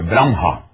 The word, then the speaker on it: Brahma: disse tudo e brahmia Brahma é a primeira pessoa da trimurti brah Aliás a pronúncia boa é Bram vno a leitura faz